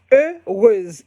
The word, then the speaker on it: Heureuse: I said, okay, I'm gonna call my fashion designing company Heureuse, the name of my mother. It's spelled Heuruse. Heureuse. It is a French name.